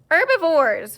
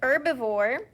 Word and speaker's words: herbivore: remember what it's called herbivores very good so an herbivore you may remember you don't pronounce the h it's kind of silent the herbivore an herbivore is an